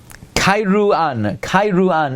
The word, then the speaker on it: Kairouan: Kairouan is the way you pronounce it.